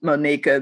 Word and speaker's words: Monika: And as you said, my name is Monika, but it's spelled like Monica, M-O-N-I-C-A. I prefer the pronunciation Monika. That was my mom's intention.